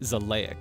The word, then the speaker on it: Xileak: I felt that if you reverse it like Alukard's name and pronounce it in a very specific way, it does sound very vampire-like, right? Zleic.